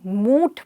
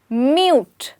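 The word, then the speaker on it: mute: इट्स क्वाइट funny, मैंने कई बारी लोगों को इसे मूट बोलते हुए सुना, when it's actually म्यूट। Absolutely, अगर आपको पता है तो बहुत अच्छी बात है। इसमें हम यू को हमेशा प्रोनाउंस करेंगे और बोलेंगे म्यूट।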